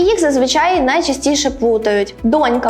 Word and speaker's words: донька: їх зазвичай найчастіше плутають донька має наголос на першому складі а дочка на другому Вони мають протилежне наголошення